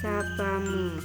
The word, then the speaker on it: sapamu: Terus yang ketiga sopo plus mu, jadi bacanya itu sapamu.